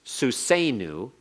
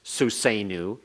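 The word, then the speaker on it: סוּסֵנוּ: So the only difference here between our horse, Suseinu, and our horses, Suseinu, is that the horses has the yod in it. You have to see the yod. Otherwise, they're pronounced identically.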